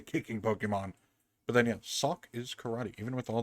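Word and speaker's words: Sawk: Sock.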